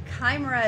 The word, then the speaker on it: Chimera: up we climber uh Chimera Chimera is how you say that um we'll be getting